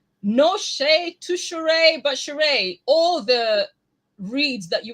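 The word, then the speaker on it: Sheree: um drew and cherie shuri how did you pronounce her name properly i would say cheray okay cheray we're having for me i thought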